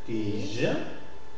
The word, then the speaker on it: tige: Tige. Yves. Ivre. D'accord? Cire. Analyse. Tige. Yves. Ivre. D'accord? Dans ce cas, prononciation légèrement allongée dans une position tonique et devant les consonnes R, Z, V, R.